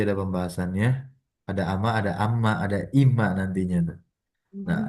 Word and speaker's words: أمّا: Nah, sekarang kita akan masuk amma. Kalau tadi kan ama tidak ada tasdidnya, sekarang ada tasdidnya.